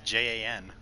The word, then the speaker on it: Jan: But it's not John. It's J-A-N. That's how he spelled it for a long time. But legally, there is no dash. No, I mean, it's spelled J-A-N. It's Jan.